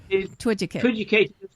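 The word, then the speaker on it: Twiducate: Twidgicate.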